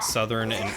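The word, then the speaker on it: Southwark: like southern i mean just because the the english have improper pronunciation doesn't mean i should right shadow just going by what johnny said yeah i mean that's fair i'll probably still call it southwork because that's what it reads like to me that's it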